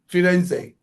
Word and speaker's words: Firenze: You know, in in in um in Italian, the Florence is pronounced Firenze. Firenze, I am Italian.